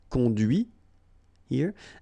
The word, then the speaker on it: conduit: And that's when you hear the difference between conduit, because remember, final T is not pronounced, conduit here, and then the feminine, conduite.